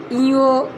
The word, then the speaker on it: ঞ: আর এইটাকে ইও ইও বলি আমরা। এটা বাচ্চারা কি বলে আমার ঠিক খেয়াল নাই, কিন্তু এটার নাম হলো ইও, ইও।